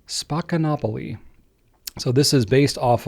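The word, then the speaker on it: Spaccanapoli: So if you're reading it online and you have no idea how to pronounce it, it is pronounced Spacanopoly.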